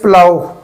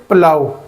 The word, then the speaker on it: plough: Our last word is प्लाउ। PLOUGH प्लाउ। प्लाउ जो है हल चलाना खेत में, इसको प्लो नहीं पढ़ते, प्लाउ।